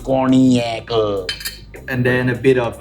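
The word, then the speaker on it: cognac: corac that's the base cornac spelled zg NAC pronounced corac and then a bit of uh homemade R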